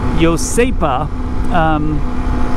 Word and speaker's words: Iosepa: said I'm going to a place called yosepa I had to look up how to pronounce that apparently that's the Hawaiian version of Joseph it was settled by